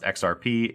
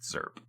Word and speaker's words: XRP: It's not pronounced XRP. It is pronounced ZERP.